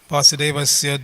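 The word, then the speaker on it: वासुदेवस्य: Vasudevasya doesn't have a long A at the end. It's not Ya. It's just Ya.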